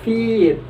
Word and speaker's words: feet: Yang kedua ada kata feet. Feet bacanya feet panjang. Karena kalau tidak dibaca panjang maka dia akan sama dengan kata fit.